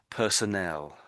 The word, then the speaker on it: personnel: So this this word here is personnel. Personnel. And this one here is personal. Oh, personal. Personal and personnel.